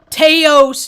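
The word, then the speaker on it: Taos: trip i live in teos new mexico they call it it's pronounced house but they hate when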